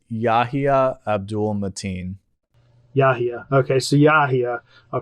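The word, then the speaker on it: Yahya Abdul-Mateen: Then you see the trailer, you get that Yahya, I'm not going to pronounce his name, I'll just call him Yahya. It's Yahya Abdul Mateen.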